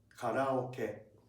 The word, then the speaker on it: karaoke: In Japanese, we pronounce it like karaoke.